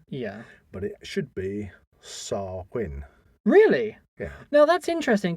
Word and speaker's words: Samhain: most people and I have heard people uh pronunciate it as Sam Hayne yeah but it should be SAR Quinn really yeah no that's interesting because obviously we